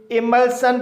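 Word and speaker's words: emulsion: इमल्शन इस word में एल के बाद एस आई ओ एन आया है। इसलिए एस आई ओ एन का उच्चारण सन होगा इसलिए इसे इमल्शन पढ़ा जाएगा।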